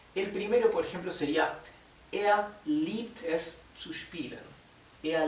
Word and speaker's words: er: Er liebt, recuerden que er, cuando la R está al final, se pronuncia de una forma casi imperceptible.